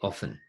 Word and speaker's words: often: oh really yeah actually in Australia we don't pronounce the T often often nurses are oft